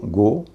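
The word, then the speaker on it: go: जैसे जी ओ गो, इसमें ओ का उच्चारण ओ हो रहा है।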